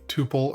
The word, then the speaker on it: tuple: We pass in a tuple or tuple, depending on how you want to pronounce it.